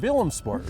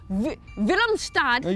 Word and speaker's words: Willemstad: We are in Willemsport. Is that right? Willemstad You're better than is me. how they say it here.